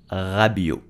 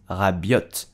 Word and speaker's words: Rabiot: Adrien Rabiot. The T at the end of Rabiot is silent. Do not pronounce Rabiot, but Adrien Rabiot.